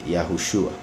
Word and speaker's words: Yahushua: las conjugaciones y demás, el acento iría al final, igual que por ejemplo en Yahushua. Hay gente que hay gente que no le llama Yahushua, pero lo más cerca,